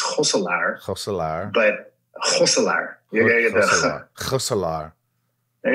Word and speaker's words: Gosselaar: But the correct pronunciation is probably Gosselaar, because that's the closest to how we say it in Dutch, which is Gosselaar.